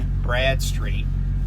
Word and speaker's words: Bradstreet: But you can go to their website, DNB, like Dun Bradstreet, and Dun is spelled D-U-N. Bradstreet, just like it sounds, Brad Street.